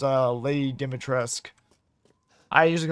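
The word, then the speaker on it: Dimitrescu: to pronounce her name and I know it's pronounced uh Lady Dimitresque.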